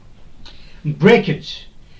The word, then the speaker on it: breakage: the word is breakage if your suffix is this age then this stress will be put on the first slip break the first syllable is this one okay break here stress will be put breakage luggage breakage luggage okay storage any word ending with age the stress will not be put on this age but the part or the syllable which is before this age breakage luggage okay stow